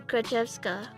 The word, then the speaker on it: Grachevska: Usually you don't pronounce the ya in Grachevska.